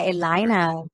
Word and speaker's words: Elayna: really appreciate it did I get to the pronunciation your first name correct yeah Elina El Spanish good Stu there you go I'm